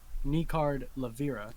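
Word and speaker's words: Nekard Lavirra: One, it's pronounced Nicard Lavera.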